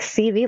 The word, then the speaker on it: Seavey: And I'll just jump in and say, if anyone's wanting to Google them, it's spelled Seavey. Yeah, that took me a while. I'm like, CV, like CV?